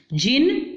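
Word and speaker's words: Djinn: जिन, देखो दोबारा बेटा डी नहीं पढ़ना, जिन पढ़ना है आपने, डी साइलेंट है यहाँ पर।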